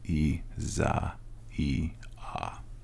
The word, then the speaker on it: Isaia: it I swear e this is how you pronounce it in Italy Isaiah it's spelled just like Isaiah but it's e Za e a and that's a xon